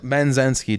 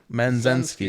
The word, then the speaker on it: Menzensky: Menzensky, just like it looks. Men. Menzensky. Zensky. It's literally 3 syllables, dude.